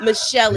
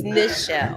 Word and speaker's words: Nichelle: No, she was like, it's not Michelle, it's Nichelle with an N.